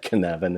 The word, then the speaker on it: Cynefin: Now, in Europe, I've noticed they use Cynefin, and or it's spelled Cinefin, but it said Cynefin. It's a Scottish word, and Dave Snowden from